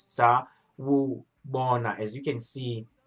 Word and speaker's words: Sawubona: So last week, our first a couple of weeks ago, our first lesson was Sawubona, which is hello, and how you pronounce it is Sawubona.